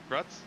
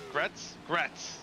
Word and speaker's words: Gratz: I can't remember how to pronounce that name, but Gratz. He's in that Gretz, like almost like Gretzky, but without the ski.